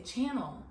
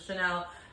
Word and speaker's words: Chanel: on me you know my name is chanel and it spelled like the perfume and so a lot of people say channel and i used to